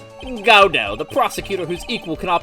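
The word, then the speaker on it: Godot: name is God go godo the tea is silent because that's the play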